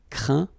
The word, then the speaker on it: craint: Okay, and as usual, final T here is not pronounced, so you get craint, contraint, plaint. Okay.